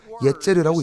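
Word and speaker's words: יֵצֶר: 이 구절에서 체질, 즉 뼈대라는 단어는 히브리어로 예제르라고 읽습니다.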